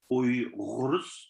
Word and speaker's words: Uyghurs: So the proper terminology, it's Uyghurs. So you got the Uy, and then the Ra, and the Ghurs. Like that's the Uyghur way of saying it.